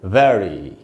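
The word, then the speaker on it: very: में आ रहा है, इसीलिए इसको हम बोलेंगे वेरी। यहाँ पर बड़ी ई का हमको उच्चारण करना चाहिए, वेरी।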